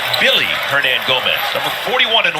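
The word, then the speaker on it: Willy: over from the Knicks it looks like it will be Willie but it's actually pronounced Billy Hernan Gomez number 41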